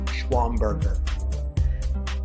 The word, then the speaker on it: Schwamberger: yourself so that they can get the correct pronunciation of your name hi everybody i am schwamberger we took a little lesson before that guys